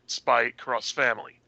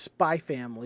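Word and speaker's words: Spy × Family: more recent things like spy cross family uh that i think that might be just spy family because sometimes the x is silent sometimes if that's x sometimes it's pronounced cross but whatever anyway um it's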